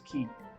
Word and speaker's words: quayside: I just know you're supposed to pronounce that word as key.